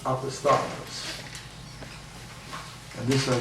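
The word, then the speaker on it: opisthotonus: Opisthotonous, pronounced opisthotonous.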